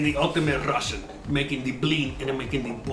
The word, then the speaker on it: blin: You say blin, not Bellini. It's blin.